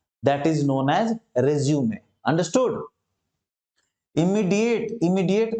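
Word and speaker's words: résumé: रिज्यूम, रिज्यूम माने होता है फिर से स्टार्ट करना, रिज्यूम। ओके, और स्पेलिंग ऐसे ही होती है, सेम होती है स्पेलिंग, लेकिन होता है एक रिज्यूमे, उसका उच्चारण अलग होता है।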